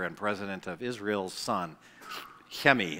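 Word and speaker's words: Chemi: president of Israel's son Hemi his his name spelled like Kimmy and I had dinner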